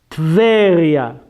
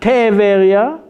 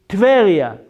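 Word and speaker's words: טבריה: So the word here is Tveria. Not Teveria. It is not Teveria. It is Tveria.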